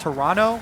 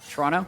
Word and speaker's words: Toronto: prepare to head to Toronto I was told actually by a tweet it's pronounced Toronto with no uh no T oh yeah today I learned Toronto maybe someone else you're